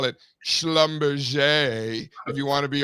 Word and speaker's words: Schlumberger: So, listen, no, JB, no, it's actually pronounced Schlumberger.